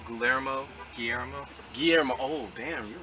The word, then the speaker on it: Guillermo: Guillermo del Toro. Is that how you say it? Guillermo. Guillermo? Guillermo.